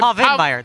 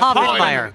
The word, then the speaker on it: Povenmire: Okay, because I asked how it was pronounced, and you said Povenmire. There's an N in there, right? I answer to anything. There's an N in it, yes. Yeah, Povenmire. That's why it's pronounced Povenmire.